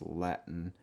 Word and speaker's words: Latin: it's not usually latin it's latin which is again another hell t this time because the t is followed by the n sound latin street food latin